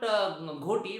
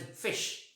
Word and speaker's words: ghoti: word gote is not ghoti, but it is fish. I had given this example because in the word rough, gh is f. In the word women, o is e.